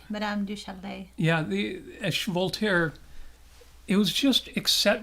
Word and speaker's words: Madame du Châtelet: Madame du Châtelet.